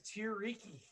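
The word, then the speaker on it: Tiryki: hexes, and we are currently along the river Tiriyaki, or Tiriki. Ah, man, it's been Tariki, I think is how. River teriyaki. Is that- Yeah, River Teriyaki. It's where all That the teriyaki. pronunciation is Tiriki.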